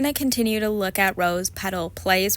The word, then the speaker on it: Rose Petal Place: We're going to continue to look at Rose Petal Place. Why did I think the word was palace? I didn't even spell it wrong. I literally just pronounced it wrong.